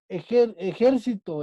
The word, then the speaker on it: ejército: Las palabras ejército es una palabra esdrújula. ¿Por qué? Porque su sílaba tónica es la antepenúltima sílaba.